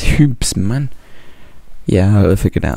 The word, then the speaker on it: Hoobs: the hoops smp i've recently learned now it's pronounced tubes not here bloody hobbs it's hoops it's hoops man yeah i'll figure that out now so